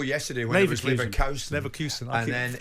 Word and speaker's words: Leverkusen: Leverkusen. And then it's Bayer Leverkusen.